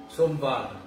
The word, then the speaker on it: Somvar: Monday in Hindi is Somvar is the proper pronunciation.